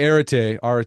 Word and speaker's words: arete: Yeah, because we talk about these big concepts like, did I say it right? Arete? Yeah, I Um, say arate, yeah. Arete.